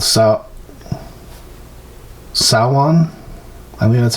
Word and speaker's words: Samhain: So originally it was a Celtic holiday called Samhain. I think that's how you pronounce it. And I don't know. Celtic is weird with with the way they pronounce consonants. It's because of Sanhein, but it's pronounced Samhain.